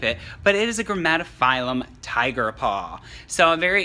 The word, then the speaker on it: Grammatophyllum: As you know, I have I can't remember how to say it. Gramophyllum? Grammatophyllum. Sorry.